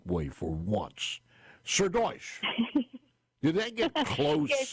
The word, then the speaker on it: Srdoc: pronouncing your name the right way for once sir D did that get close yes it is it is Sir do but I don't mind I mean you pronounced it perfectly thank you so much for